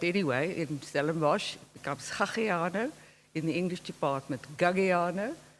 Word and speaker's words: Gagiano: There is an issue with that Afrikaans pronunciation, which would horrify any Corsican, which is the origin of this married surname of mine, which in any case is misspelt as I use it. It should be Gagiano with 3 G's.